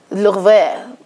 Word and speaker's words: Louvre: The Louvre. The Louvre. Completely unnecessary as well. Louvre.